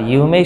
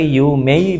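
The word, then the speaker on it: 有名: কিরেই বলে না কিরেই শব্দটাকে বলে খিরে আবার ইউমেই শব্দটাকে ইউমেই বলে অর্থাৎ শেষে ই দিয়ে উচ্চারণ খুব কম করে বলে ইউমে কি বলে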